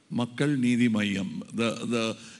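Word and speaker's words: Makkal Needhi Maiam: Makkal Nidhi Mayam. You don't have to stress the Nidhi as Nidhi.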